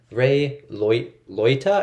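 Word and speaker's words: Ray Liotta: get this out the 1990 crime drama starring rey loyta is how you say his name robert de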